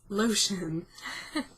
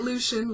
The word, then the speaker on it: Lotion: out later but yes his last name is lotion not Lucian lotion lotion so loud with lotion uh he had the weirdest names don't you so when you spell it differently it doesn't sound like the actual stuff you put on your skin lotion yes he's the last